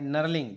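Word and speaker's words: knurling: Facing होता है, ड्रिलिंग होता है, बोरिंग होता है, नर्लिंग जो के एन यू आर एल आई एन जी नर्लिंग जिसको बोलते हैं के साइलेंट होता है।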